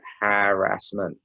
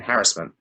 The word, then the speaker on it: harassment: I break it down in 3 syllables, harassment. But on the news, it's saying harassment.